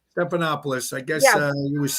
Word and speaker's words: Stephanopoulos: This George Stephanopoulos, how do you pronounce his name? Stephanopoulos.